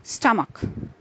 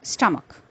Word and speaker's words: stomach: The last three words in this list are pronounced as chromosome, scheme, and stomach. So chromosome, scheme, and stomach. Here are some more words having the CH digraphs and with silent H.